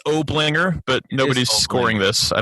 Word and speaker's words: Oblinger: time last year and his name is obligor and did I pronounce that right it's Oblinger but nobody's scoring this I don't think so